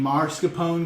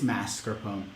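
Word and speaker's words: mascarpone: pone not Mar scopone because the r is at the end of the word not at the beginning so if you catch your friends saying Marone go tisk tisk it's masarone car Carl said it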